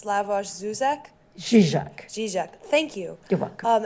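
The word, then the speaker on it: Žižek: There's a term from historians whose name I'm going to mispronounce. It's Slavoj Zizek.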